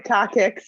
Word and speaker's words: coccyx: do you pronounce it properly? The coccyx, yeah.